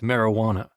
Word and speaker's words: marijuana: It's pronounced marijuana.